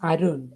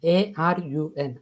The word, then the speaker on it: Arun: so yes first thing is my name is Arun a r u n Arun yeah this is how we pronounce ion okay so it's a it's another